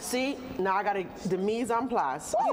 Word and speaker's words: mise en place: See, now I got the mise en place.